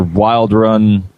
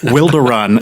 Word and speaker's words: Wilderun: Um, it's either Wild Run or Wilder Run. Um, some people say Wilder Run. Uh, and then there's a whole bunch of other ones that I can't even comprehend. So, well, we're really big on pronunciation here. So, Wilderun is it? That's how we like to say it.